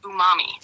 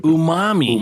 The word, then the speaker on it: umami: the fifth taste is Umami which is a no umam ooh mommy oo mommy hi momy all right that's how you Umami Umami like Jumanji sure I I I